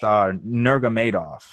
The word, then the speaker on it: Nurmagomedov: It's pronounced Nurmagomedov.